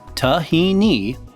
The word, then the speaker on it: tahini: Tahini, pronounced tahini, is made from the sesame seed and contains a very high amount of oil content.